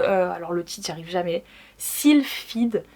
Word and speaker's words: Sylphide: le titre j'arrive jamais silfed je dis toujours si field mais en fait c'est sil Fed j'arrive jamais prononcer le